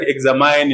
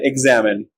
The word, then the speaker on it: examine: are like determine examine these two words are also mispronounced like examine in determine but they are determin in examine another example intestine margarine